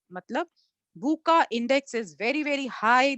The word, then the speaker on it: VUCA: तो आजकल जो सबसे ज्यादा मशहूर हो गया है बच्चों, वो है वूका इंडेक्स। शायद आपने इसका नाम नहीं सुना होगा। इसका स्पेलिंग है VUCA इंडेक्स।